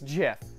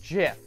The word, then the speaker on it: GIF: Theo Jo is going to lay down some righteous knowledge on you it's jiff it's pronounced jiff and you know what